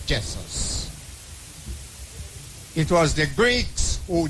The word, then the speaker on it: Jesus: Jessus beg your pardon. Let her pronounce our English narrative as it is Jess. But we all say Jesus but is Jessus.